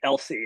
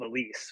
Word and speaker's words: Elise: So they always used to transpose they called me Elsie instead of Elise, which caused the kids